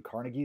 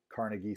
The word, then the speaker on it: Carnegie: And this steel is going to be mass produced in Carnegie steel mills in Pittsburgh, Pennsylvania, which is why Pittsburgh's professional football team is named the way that it is.